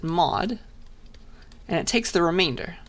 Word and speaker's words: mod: is the modulus operator i pronounce it mod and it takes the remainder so remainder after dividing by 10.